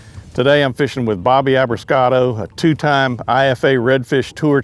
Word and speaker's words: Abruscato: And we already got a winner right now because Ising said Abruscato right. So I said it right. Start. Yeah. And Schultz I spelled with a C.